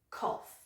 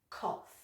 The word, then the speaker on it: cough: It can be a verb or a noun, and the pronunciation is with an F sound at the end. Okay, so try that one after me. 1 syllable, cough. Okay, so it's k-off, cough.